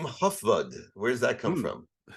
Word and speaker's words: Hufvud: brought me into contact with you the name huffud where's that come from it's pronounced food yeah in Swedish that means head your your